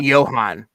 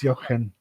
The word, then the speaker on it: Jochen: So it's the CH is, and so it's Jochen.